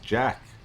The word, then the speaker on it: dschaek: This is another Stormgate cast, and today's cast is going to be featuring DS Czech, which I've heard is pronounced Jack, so I'm going to say Jack. Okay, welcome Jack.